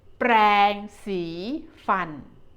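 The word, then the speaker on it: แปรงสีฟัน: this the longer word we call this thing brancy fun with the vibrant r C Longwell and fun it's like you pronounce fun in English fun a toothbrush next one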